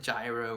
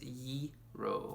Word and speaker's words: gyro: know don't pronounce it gyro or Jareau or Giro like it's kind of like saying the word euro like the money euro but its ye roll and even then I'm